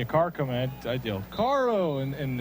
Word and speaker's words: caro: I'd yell Caro and in Spanish that means expensive if you don't roll your r car yeah if you say that then it means car but if you don't roll your R it means expensive and the kids would